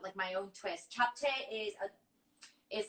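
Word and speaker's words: 잡채: Can you pronounce that for me one more time? Japchae.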